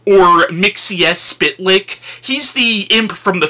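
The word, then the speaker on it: Mxyzptlk: and I understand that the point of this character is his name is supposed to be hard to pronounce, but I think it's pronounced Mix Yes Spetlik, or Mixies Spitlick.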